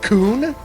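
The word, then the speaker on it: Coen: From what I understand, that keyboard is Koen. Someone said it's pronounced Koon.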